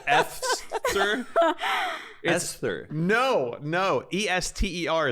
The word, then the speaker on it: Esther: Ester is how you pronounce that name.